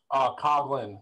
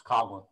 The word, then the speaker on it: Coughlin: Coughlin. It's spelled Coughlin, but it's Coughlin. Coughlin, like C-O-G.